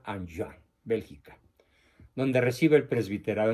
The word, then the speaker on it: Enghien: Esta ciudad se escribe Enghien, con H intermedia. Como es francés, se pronuncia Anjouan, Bélgica, donde recibe el presbiterado.